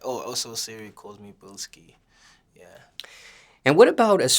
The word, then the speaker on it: Blxckie: My stage name is Blxckie, so the X is just a stylized A, so Blxckie, yeah.